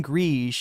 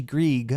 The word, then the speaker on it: Grieg: I'm pronouncing everything French now, including Grige. It's actually Grieg, apparently.